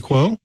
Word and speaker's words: Ming-Chi Kuo: the noted analyst, trying to remember how to pronounce his name. Is it Ming-Chi Kuo?